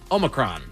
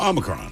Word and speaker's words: Omicron: Anybody remember that that variant of COVID-19 that everybody had such a hard time pronouncing? Futurama fans might know an alien from this planet, Omicron. Oh, Omicron.